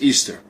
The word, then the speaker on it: Ishtar: Semiramis became known as Ishtar, which is pronounced Easter, and her moon egg became known as Ishtar's egg, which today would be called an Easter egg.